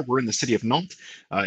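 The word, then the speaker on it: Nantes: in the city of nalt uh it's pronounced without the s at the end and we're the sixth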